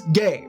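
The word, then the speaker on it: gé: It's gay, pronounced gay, as in be gay, do crimes.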